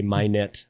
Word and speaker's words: Minot: uh place in in minot which isn't far far from my not i say my net i guess because locals say it differently but i bought a